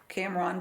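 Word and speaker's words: Cam Ranh: new experience for both so when you landed camon Bay is how you say it right camon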